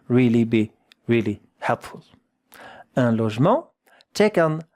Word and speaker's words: logement: Un logement, check on how to pronounce it. It's not so easy. Logement. La, not lo. La, la, je. Here that sound is j.